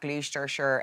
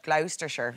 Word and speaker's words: Gloucestershire: can't just keep which isn't scaring pigeons at gleester sure airport let's should we go for that again gloucestershire gloucestershire yeah the first time i've ever been